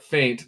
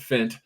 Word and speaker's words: faint: my god anyway um first off tyrone it's pronounced wickstrom and faint not fint see i i didn't want to correct him